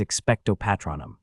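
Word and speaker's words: Expecto Patronum: his knee yes professor the incantation is expectatronum stress on the second O yes professor hold the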